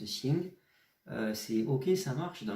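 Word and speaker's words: 行: Celui-là, par exemple, de caractère, quand on va dire xing bu xing, ça se prononce xing, c'est ok, ça marche.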